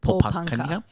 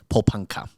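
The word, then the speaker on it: Porepunkah: Paulpunka. Paulpunka.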